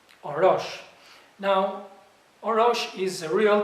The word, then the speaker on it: Orosh: on and let's see the word let me spell it o r o s h or rush now orosh is a real town in northern